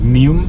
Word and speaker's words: Neum: Passing through a small town on the coast, small city on the coast called Neum, n e u m. I'm not sure if I pronounced it properly, but um yeah, that's also